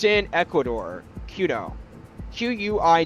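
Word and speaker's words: Quito: It's called Kudo. It's in Ecuador. Kudo. Qu Ui T O I think it's spelled.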